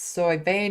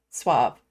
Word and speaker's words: Soy vey: So Grand Theft Autobot saying, just FYI, his name is pronounced Soy vey, not Suave.